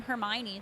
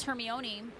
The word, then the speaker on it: Hermione: Like, it's kind of like when the Harry Potter books first came out and there was the name Hermione.